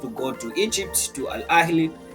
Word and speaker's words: Al Ahly: It's not Al Ali, it's Al Ahly. Supposed to go to Al Ali. It's the same as how you pronounce Gaza. People they said Gaza. It's not Gaza.